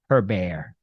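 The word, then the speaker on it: Hébert: Canadians and uh I love Chantal I even pronounced her name correctly her bear the heated back and forth continues at City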